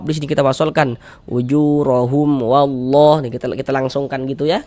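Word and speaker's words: والله: Nah, kemudian di sini wallah ini jangan kita baca wala jangan. Tapi kita tebalkan wallah. Nah, wallah kita tebalkan. Jangan dibaca wallah.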